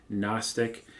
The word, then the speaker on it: gnostic: a more gnostic worldview that word starts with a silent g gnostic so first and second